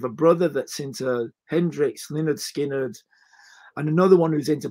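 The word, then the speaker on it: Lynyrd Skynyrd: introduced me to the Leonard skinnard album pronounced Leonard skinnard and at Jimmy Hendrick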